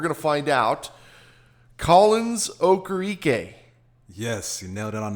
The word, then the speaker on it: Okoroike: What did they call you? Okoroike. Okoroike. I've heard.